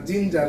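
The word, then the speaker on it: ginger: হচ্ছে কিন্তু আমরা কিন্তু গিঞ্জার বলছি না জিঞ্জার কেন জি এর পরে কিন্তু আই আছে আমি এটাই বলতে চাইছি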